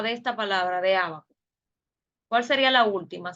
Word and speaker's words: ábaco: La última sílaba sería la co, ¿verdad? Ábaco. Entonces, última, co. Penúltima, va. Y a sería la antepenúltima. Por eso se acentúa acá. Llevan acento en la antepenúltima sílaba.